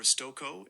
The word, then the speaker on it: Stokoe: Hey Google, how do you pronounce S T O K O E? The most common pronunciation for Stoko is S T O H Stoko.